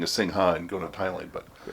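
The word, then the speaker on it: Singha: Some people say Sing-Ha, but I actually found out, I was reading somewhere, and it's not pronounced Sing-Ha. The Ha part is like the P in psychiatrist. Oh, okay. In Thai.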